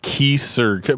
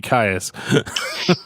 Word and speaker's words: Kyuss: But I heard somebody calling them like Kyuss, but I was like, no, that's too much like Kiss. It's got to be Kyuss.